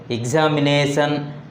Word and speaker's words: examination: The word examination has 5 syllables. Here the word ending in ION. Then the stress falls on the second syllable from the end. Examination. The second syllable from the end is ne. So here the stress is on the nation.